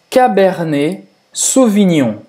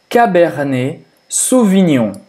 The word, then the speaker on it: Cabernet Sauvignon: Tem também Cabernet Sauvignon. Cabernet Sauvignon. Cabernet, então, E-T no final da palavra, se pronuncia E. Cabernet Sauvignon.